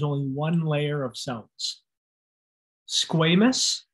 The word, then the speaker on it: squamous: one layer of cells squamous it's a long a squamous is referring to